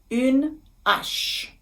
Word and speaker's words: une hache: circonflexe, the little hat, we don't make the liaison. So we say une hache.